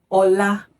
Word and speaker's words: ọlá: So it's like re, mi. Remember that whenever you see nothing on a vowel in the Yoruba language, it is pronounced re. And whenever you see this mark, it is pronounced ni. So, Ola, re, mi.